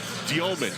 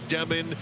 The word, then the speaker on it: Demin: And there's that young team, Yegor Giomin. Dave McMenamin had it right. There was some concern if he was still Demin in his BYU days from last year, but it is Giomin, the Russian pronunciation, with Traore and Wolf.